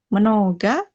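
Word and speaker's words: много: Terus, kalau yang terakhir, ini karena dia O-nya nggak ditutup sama apa-apa, jadi dibacanya A. Mnoga eta. Mnoga eta.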